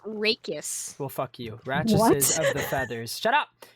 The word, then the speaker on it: rachis: the plural of ratchis, which is like the stem part of a feather. We're learning today, chat. And remove the veins from the... Apparently, Google says it's pronounced rachis.